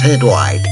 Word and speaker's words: Hydlide: everybody and welcome to hide lighter May it's pronounced head white he's a way I hear that music it's